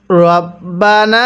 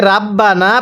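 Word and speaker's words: رَبَّنَا: ওয়ামিনহুম মাইয়াকু এরপরে রব্বানা। অনেকে আমরা এটাকে রাব্বানা পড়ি।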